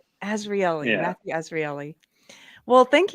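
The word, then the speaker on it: Azrieli: It's not a common name. It's Azraeli, but it's fine. Azraeli.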